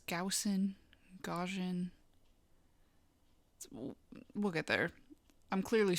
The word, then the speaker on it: Gaussian: All right, it's Gaussian.